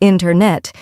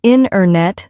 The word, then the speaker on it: internet: A great example is internet. We don't usually say internet. Instead, we say internet. The t sound gets softer or disappears.